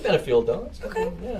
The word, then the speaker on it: Benefield: Benefield, right?